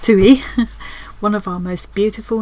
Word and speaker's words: tui: The other little piece is a tui, pronounced tui, one of our most beautiful native birds.